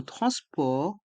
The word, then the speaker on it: transport: carte Navigo le Pass Navigo dans le mot transport les lettres a et n se prononcent en France France port et le thé